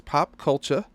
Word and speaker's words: Popcultcha: site called pulp culture that is pop culture and that's exactly how it sounds P it's spelled exactly